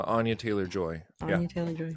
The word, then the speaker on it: Anya Taylor-Joy: Anya Taylor-Joy.